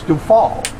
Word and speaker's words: Dufault: Then it's Dufault. Miss Dufault. Because the T at the end of a French word is silent.